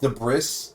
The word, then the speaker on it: debris: and we'll start pumping the word is spelled de bris sounds French the exact opposite of American true uh debris is is an extremely French sounding word we've only managed to